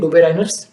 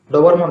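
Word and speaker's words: Döbereiner: डोबेराइनर, अपना डोबरमॉन नहीं, डोबेराइनर। बहुत बच्चे उसको डोबरमॉन बोलते हैं, गड़बड़ी में डोबरमॉन नहीं, डोबरमॉन मतलब हमारा वो डॉगी होता है, कुत्ता, वो नहीं, ये डोबेराइनर है, साइंटिस्ट है, इज्जत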